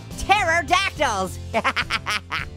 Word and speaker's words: pterodactyl: Oh no, pterodactyls. Hey, why can't you hear a pterodactyl go to the bathroom? Cause the pee is silent.